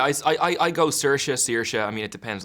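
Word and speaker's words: Saoirse: make her sure I say her name right cersa right yeah I I I I go cersa CA I mean it depends on the day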